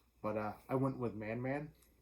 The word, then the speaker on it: Man Man: uh i went with man man i believe that's how it's pronounced it's m-a-n-m-a-n i assume